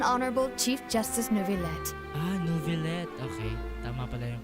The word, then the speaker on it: Neuvillette: Ah, Neuvillette. Okay. Tama pala yung pronunciation ko.